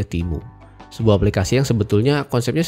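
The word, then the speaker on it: Temu: aplikasi yang viral banget namanya timu t e mu u ya bacanya timu sebuah aplikasi yang sebetulnya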